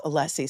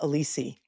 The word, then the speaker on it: Alessi: mean, silver linings, he did learn how to pronounce Alessi since the last time he got up and has been calling him Alisi.